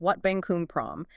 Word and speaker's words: Wat Bang Khun Prohm: That's pronounced Wat Bang Khun Prohm.